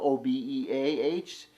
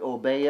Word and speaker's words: obeah: it's called it's spelled OB EAH some people pronounce it obey or some people pronounce it obeah they pronounce it obeah